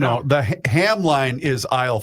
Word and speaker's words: Hamline: Hamline. Hamline. If I just write Hamline, I'll pronounce it every single time. Hamline. It's Hamlin. Oh, it's not Hamline.